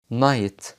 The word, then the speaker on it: night: الحرفين دولت مش بننطقهم في بعض الكلمات زي كلمة night right.